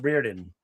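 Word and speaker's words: Rhuidean: I heard it's pronounced Reardon.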